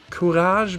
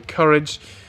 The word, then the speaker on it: Courage: the courage team itself which I think is pronounced kurage because it's a French team but for the sake